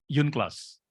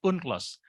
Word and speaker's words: UNCLOS: Law of the Sea kita sebut dengan Yun class atau uncloss kalau di Jakarta sering bacanya kalau di literatur asing Amerika anda akan menyebut biasa dengan lost convention seleranya masing-masing tapi kalau saya pribadi sering lebih senang menyebut dengan uncloss karena ini singkatan dari united nations gitu ya Jadi